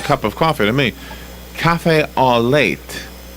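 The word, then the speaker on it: café au lait: looks like a cup of coffee to me cafe all late right yes is that how you pronounce that Robin yeah looks like coffee with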